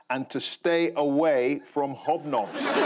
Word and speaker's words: Hobnobs: to stay away from hobnobs. Or as the BBC has asked us to pronounce it, hiob-nyobs. Hiob-nyobs.